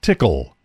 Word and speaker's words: TCL: hxp hexapod is the ability to issue TCL pronounced tickle commands found in the terminal mode TCL is